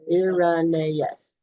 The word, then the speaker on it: Irenaeus: This is where they were talking about this pronounce it again, Oh, Irenaeus.